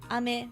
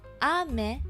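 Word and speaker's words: 雨: karaoke stream or something is a little higher like it has an accent ame and ame is rain do you want some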